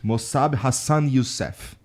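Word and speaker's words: Mosab Hassan Yousef: also talking to mosab mosab Hassan yusf right did I say it right yes you got it okay uh you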